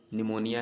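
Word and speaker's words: pneumonia: बहुत से वर्ड होते हैं जिसमें साइलेंट होता है पहला लेटर, जैसे निमोनिया है, निमोनिया में पी साइलेंट रहेगा, फिर NEUMONIA बनेगा निमोनिया। ऐसे सुनामी में होता है टी साइलेंट रहता है, SUNAMI होता है।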